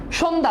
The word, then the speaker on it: সন্ধ্যা: যক্ষা মফালার কোন উচ্চারণ আছে নাই লক্ষণ মফলার কোন উচ্চারণ আছে নাই আছে নাই সন্ধ্যা দেখ এখানে জফলার কোন উচ্চারণ আছে নাই স্বাস্থ্য জফলার উচ্চারণ আছে